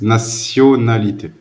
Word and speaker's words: nationalité: Except that in French, the T is not pronounced like sh, but the sound of the S. Nationalité.